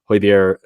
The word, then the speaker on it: Højbjerg: Højbjerg, I said it right for you, Kirst.